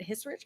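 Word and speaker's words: Hissrich: but kudos to her lauren schmidt his rich i think is how you say her last name she they announced in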